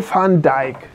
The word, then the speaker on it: Van Dijk: Paul van Dijk, ja, habe ich auch schon mal gehört. Mhm. Aber ich würde jetzt auch von Dijk sagen. Van Dijk. Ja. So holländisch ausgesprochen.